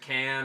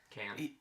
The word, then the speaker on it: Cannes: But Cannes. Can't whatever. There's no S. The S is silent. It's French.